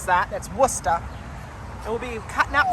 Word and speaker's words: Worcester: up through Worcester and yes that's how you pronounce that that's Worcester it will be cutting up through that kind